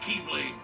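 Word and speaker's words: χ-blade: it means the x-blade it's just pronounced like keyblade even though it's just one keyblade and oh it's is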